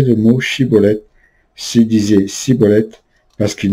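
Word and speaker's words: Shibboleth: Il suffisait qu'ils demandent de prononcer le mot Chiboleth à leurs adversaires, qui eux-mêmes prononçaient Ciboleth, pour qu'ils soient trahis par leur manière de prononcer.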